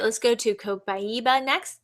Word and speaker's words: Copaiba: All right, let's go to Copaiba next. This is pronounced copaiba.